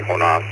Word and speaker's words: Jonas: Uh, actually, it's it's pronounced Jonas here, but it's actually Honas the way I was born.